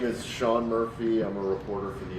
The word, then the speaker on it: Sean Murphy: My name is Sean Murphy. I'm a reporter for the Associated Press. My name is spelled S E A N.